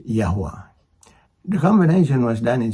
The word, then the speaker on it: Yahweh: was combined with the name of the father pronounced yahwa the combination was done in such a way